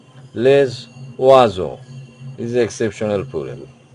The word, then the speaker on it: les oiseaux: Say S, single S is pronounced like Z. Okay, les oiseaux. And it is joining with the next word, vowel O, so it becomes a Z-like pronunciation, les oiseaux.